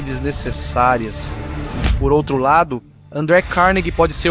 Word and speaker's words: Carnegie: André Carnegie nasceu na Escócia, por isso digo Carnegie em vez de Carnegie, pois é assim que os escoceses pronunciam.